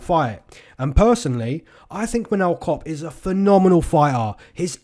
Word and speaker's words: Manel Kape: the comment section below saying his name's not Manel Kape, it's Manel Kape. Now, it does say Manel Kape, but the pronunciation is Manel Kape.